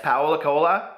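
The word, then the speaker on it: Paulo Coelho: apologize he's the one that wrote The Alchemist Powell Accola is how you pronounce that Colo but he wrote a book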